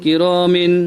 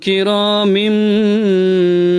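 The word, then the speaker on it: كرام: সাফারতিন কিরামিম বারারাহ, সাফারতিন, কিরামিন, বারারাহ। তানবিনের পরে বা এসেছে, এই জন্য কিরামিনকে কিরামিম পড়তে হবে, মিম, মিম এবং গুন্না হবে।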